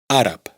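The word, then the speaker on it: àrab: lo que significa que B se pronuncia como P. árab árabe d se pronuncia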